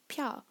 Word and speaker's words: 漂: and the pronunciation so they're both pronounced pyaar fourth tone they also both contain